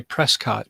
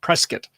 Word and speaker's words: Prescott: We've been to the Grand Canyon the previous year, but, up there by Sedona and I'd like to say Prescott, but it's pronounced Prescott.